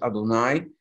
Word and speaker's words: Adonai: Some people translate it, it's pronounced in prayer as Adonai.